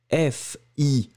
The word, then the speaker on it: fier: Alors fier, très intéressant parce que au masculin, vous l'écrivez F-I-E-R, mais on le prononce exactement de la même façon que le féminin, F-I-E, accent grave, R-E, fier.